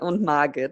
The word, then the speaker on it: Margit: Yeah, in German it's Frederic and Margit.